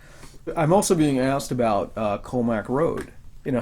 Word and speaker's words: Commack: So the proper pronunciation, as it was initially told to you, was COMMACK.